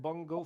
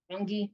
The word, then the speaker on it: Bongi: I have a question for you because you said Bongo from Minnesota, probably. Bongi, yes.